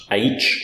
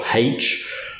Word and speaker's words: aitch: So most people in English call this sound aitch or haitch.